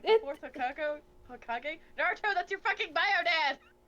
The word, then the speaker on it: Naruto: Don't say it like Naruto, that! no. Don't say it like that! Naruto.